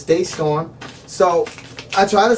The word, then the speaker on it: DeStorm: cuz I hate when people call me D storm and it's Day storm so I try to